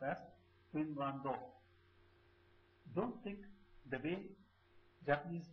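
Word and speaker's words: フィンランド: Finland is pronounced as Finlando.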